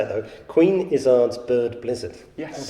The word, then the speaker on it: Izzard: I'm going to say it though, Queen Izzard's Bird Blizzard. Yes. How about that? Yeah. And you said Izzard the Jana way.